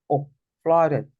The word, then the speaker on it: flood: that say completely fled that double O is one of the few words that you pronounce as fled okay uh to FL